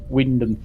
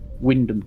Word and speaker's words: Wymondham: There's a place that's spelt Wymundham, but it's pronounced Wyndham. Why? Actually, Yeah, I've not it's seen that spelled place. Wymondham, Wymundham, but it's pronounced Wyndham. Wyndham. You chop out half the letters.